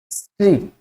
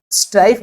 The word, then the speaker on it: strife: स्ट्रीफ, स्ट्राइफ बोलते हैं इसको, STRIPH नहीं होता, इसकी स्पेलिंग होती है STRIFE, PH की जगह F लेके।